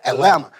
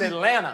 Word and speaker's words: Atlanta: Atlanta. The T is silent. T is silent. The T is silent. Silent. It's Atlanta.